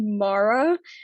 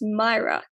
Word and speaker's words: Maira: But I've also had people straight up call me Mara, and it's weird because like I would tell them like my name is Myra.